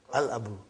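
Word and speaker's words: الْأَبُ: So without anything in front, I will pronounce it as Al-Abu. I will pronounce it as Al-Abu. So I did pronounce Lam.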